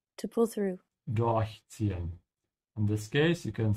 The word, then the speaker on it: durchziehen: Durchziehen. In this case, you can see that from the dot, but you have to emphasize the prefix, and this is also true because this is a separable verb.